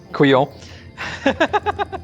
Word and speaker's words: couillon: That couillon will show up again.